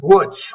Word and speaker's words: Wooch: It's pronounced Wooch, like Butch Wooch.